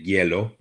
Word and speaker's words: hielo: Pista de Hielo. Notice how we say that? It looks like good the way it's spelled, but we say yellow.